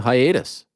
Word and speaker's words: hiatus: I mean, that might be the most shocking news of the actual hiatus. Unbelievable. Hiatus, by the way, which rhymes with anus.